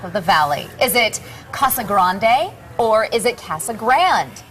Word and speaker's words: Casa Grande: coming in from Casa Grande dispatch the proper pronunciation of the city is Casa Grande but mayor Bob Jackson admits that's not how